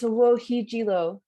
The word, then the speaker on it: Wochiigii: Could you pronounce it for me, please? Yeah, it's WOCHIIGII, End of the Peace.